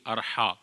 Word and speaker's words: Arha: बहुत सारे लोग इसको पढ़ते हैं इरहा या नाम रखते हैं इरहा। अलिफ के नीचे ज़ेर पढ़ते हैं। आई आर एच ए इरहा।